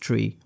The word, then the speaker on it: trie: of tree data structure no not try it's pronounced tree but spelled weird just like n tree